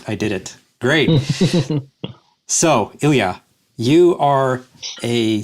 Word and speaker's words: Ilja: Uh and today we also have a guest, Ilia. I think that's how you pronounce it. Yeah. Right. Exactly. 100%. Perfect. I I did it. Great. So, Ilia, you are a spelt developer or a developer